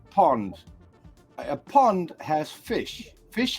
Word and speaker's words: pond: a British pound a pound in Dutch is pronounced Pond a pond has fish fish have fins fins